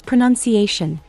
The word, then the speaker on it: pronunciation: It's pronunciation he said slowly emphasizing the shun sound like lotion or ocean.